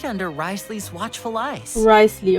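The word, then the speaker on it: Wriothesley: Risley, okay, es wird Risley Collecting ausgesprochen.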